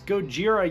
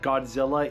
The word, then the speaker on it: Gojira: actually an anchor anyway Harry sheerer pronounces it Godzilla and she's like no it's goira you idiot but I think that's like a fine little smirk at the fact that Godzilla is the Americanized name